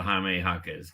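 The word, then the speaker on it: Jaime Jaquez: was we got the jamee hakz game uh where were you for the hamee hakz game you were I'm just shocked I'm shocked that that's how you pronounce his name So Jamie jaquez um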